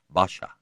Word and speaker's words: Pasha: He was a commanding, well-spoken man, and people usually addressed him by the Ottoman honorific hani pasha, which they pronounced with a B sound, so that it came out Basha.